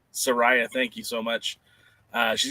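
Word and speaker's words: Saraya: Is it Soraya? Soraya, thank you so much.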